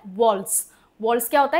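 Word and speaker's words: waltz: इसको बोलते हैं वॉल्स। वॉल्ट्स क्या होता है? इसको प्रोनाउंसिएशन कैसे होता है? वॉल्स।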